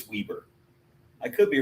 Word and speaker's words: Weber: Is it Weber State or Weber State? Let's see. I'm asking chat. Oh, okay. They probably can't understand. What are you talking about, dude? That's funny. I think pronunciation. Let's see here. I think it's a tomato tomato type of thing. It's Weieber. It is Weieber.